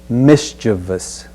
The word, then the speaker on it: mischievous: at the word mischievous notice the ending of the word the spelling is v o us repeat after me mischievous the next word we'll